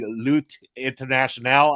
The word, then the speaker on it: Lutte Internationale: And in particular, we're going to be a little heavier focused on the 1980s during the Lutte Internationale, I believe is the way it's pronounced.